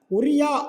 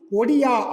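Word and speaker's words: ଓଡ଼ିଆ: ஆனால் என்ன பண்ணிட்டாங்க அப்படின்னா தி change the pronounce of ஒரியா. அப்போ ஒரியா அப்படின்ற ஒரு லாங்குவேஜ் இருந்துச்சு, அதோடைய பேர் ஓகேவா நவ் தே ப்ரொனவுன்சிங் ஒடியா அப்படின்றாங்க.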